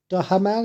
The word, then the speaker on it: Duhamel: Bandit 2022, Josh Duhamel is how you say his name, Mel Gibson and Elijah Cuthbert.